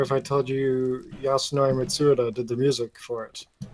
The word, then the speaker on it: Mitsuda: Would it make you feel better if I told you Yasunori Mitsuda did the music for it?